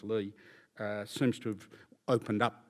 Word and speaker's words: Li: But there's a High Court decision in 2013 in a case called, it's spelled L-I, but I understand it's pronounced Lee, seems to have opened up that ground of review to a considerable degree and relaxed perhaps its rigour.